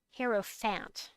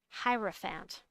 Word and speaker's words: hierophant: use it remember you can't say hero fant hierophant hierophant bill warhammer was giving tacit